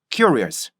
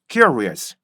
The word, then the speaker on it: curious: 그래서 큐, curious, 큐, curious, 큐, curious 이렇게 발음해야지 Q 해서 curious 이렇게 하면 절대 안 된다는 거 명심하시고요. 충분히 연습해 보시고요. 항상 영어 발음은 어떻게 돼야 돼요? 첫 음절에서 공기를 막아줘야 돼요.